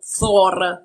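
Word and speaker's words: Þórr: Loki, e qui così finiamo il discorso, non è fratello di Thor o Thor, che sarebbe la pronuncia originale norrena.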